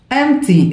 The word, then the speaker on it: empty: فارغ empty، empty، البي هنا صايبة يعني تكتب ولا تنطق، empty، فارغ empty.